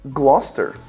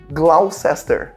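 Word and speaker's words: Gloucester: Se a gente olhar para essa palavra aqui, naturalmente em inglês a gente vai ter a tendência de falar glusest, mas não, a pronúncia é não tem nada a ver com isso. A pronúncia é gloster.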